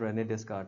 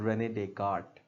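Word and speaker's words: René Descartes: Christ हजरत हजरत ईसा यह अब ये नाम प्रोनाउंस करना इज़ I mean this is नॉट रेनेडेस this is रेनेडेट इसका नाम है अगेन अब व्हाई इज़ इट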